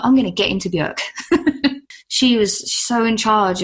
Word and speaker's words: Björk: She says it's Björk, and she says Björk rhymes with jerk, which I always liked.